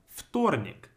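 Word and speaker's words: вторник: sound like a panic then we have ftornic the first letter is ver but we read it as foot like an f it's always almost always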